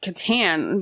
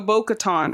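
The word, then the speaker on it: Bo-Katan: know so I'm like am I saying it wrong Katon Kat yes you were Kat Katon yeah baton so Bo Katon I just needed to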